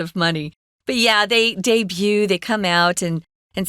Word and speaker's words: debut: for the first time debut is a weird word guys because it's French I was recording something for a client uh long ago and they said oh no you said it wrong it's debut or debut and I went no actually it's not yeah it's debut because it's French so we use it for